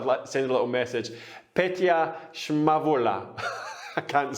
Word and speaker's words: Petya Shmarova: Don't worry, it's Petya Shmarova. I was scared how to pronounce the name, so I thought I'd send a little message. Petya Shmarova.